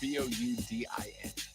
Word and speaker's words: boudin: Unless you went B-O-O, Dan. It is Boudin. Ah, it is Cajun.